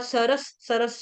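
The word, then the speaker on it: सरसः: उसके बाद सरस, सरस शब्द बहुत आसान है, सरस के आगे आधा स लगाएंगे विसर्ग का, क्योंकि आगे स आ रहा है, कुल्यास सरसस।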